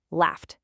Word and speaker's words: laughed: That GH is an F sound, which is unvoiced, so it becomes laughed with a T sound.